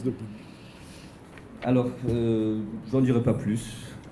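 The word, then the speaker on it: De Boeck: publié en 2006 chez Debec. Debouc. Voilà. Ça se prononce Debouc.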